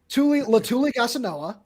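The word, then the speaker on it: Letuligasenoa: Latuli Gasanoa. Is how it's pronounced, and he's actually a really, really talented guy.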